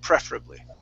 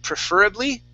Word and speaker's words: preferably: Preferably. Okay. And remember, the stress is at the very beginning of that word, you guys. Instead of preferably, okay, preferably.